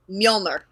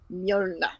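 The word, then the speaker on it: Mjölnir: Mjolnir. Okay. Mjolnir.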